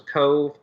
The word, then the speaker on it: Cobh: The first port was Cove, and they spell it Cobh. And it's in Ireland, and apparently in the Irish language they don't have a V, so it's Cobh, but it's pronounced Cove.